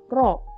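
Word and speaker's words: ρ: simbol Untuk massa jenis adalah rok dibacanya yaitu kayak huruf tetapi dibacanya ro ro = m per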